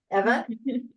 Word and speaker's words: Eva: And first name is pronounced Eva, actually.